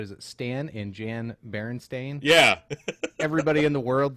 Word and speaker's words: Berenstain: And he said, just like you did, Bernstein Bears. Go ahead, pull that up. So here are several images of actual book covers Yeah, how of the would you pronounce that? Berenstain Bears.